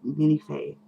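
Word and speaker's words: Minifée: been thinking about the Minifee situation and realizing that, yeah, that is how you're supposed to say it. There is actually an accent mark on it to actually make you pronounce it that way.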